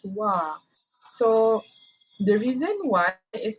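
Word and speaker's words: は: the hiragana is actually the reading is ha but only for the particle when it comes to the particle is actually pronounced as wah so the reason why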